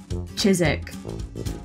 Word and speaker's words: Chiswick: else other than chiswick chizik i really thought it was going to be a tri-slick chisic so we're just throwing the w's out the window at this point i